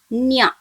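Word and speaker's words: にゃ: When ni joins with ya, it is pronounced as nya.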